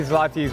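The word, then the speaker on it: złoty: This is Polish zloty.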